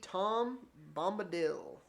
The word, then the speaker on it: Tom Bombadil: And this is going to be Tom Bombadil. I'm not actually sure how to pronounce the name.